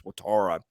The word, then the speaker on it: Watara: The pronunciation they Wataha. originally put out, yeah, that was wrong, but I was going off what had been put out. I think it's Watara.